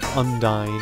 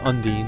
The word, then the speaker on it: Undine: I would actually recommend leveling up undyne or Undine sorry my childhood pronunciation constantly just maybe after